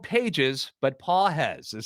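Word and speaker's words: Pagés: Pedro Pages, spelled Pages, but Pages is how it's pronounced, hitting 125 in 11 games.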